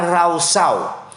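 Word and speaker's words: רשע: Karena kalau saya dan saudara melihat dari penggunaan bahasa Ibrani, kata fasik menggunakan kata rausyau. Dalam bahasa Ibrani menggunakan kata rausyau. Tulisannya R-A-S-H-A. Bacanya rausau.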